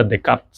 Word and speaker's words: Descartes: Jadi, kalau di sana ee tulisan Descartes tidak terbaca seperti itu ya, tapi dibaca Decart, Rene Decart ya.